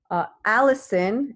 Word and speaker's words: allicin: Allison, and not the name, it's spelled like this.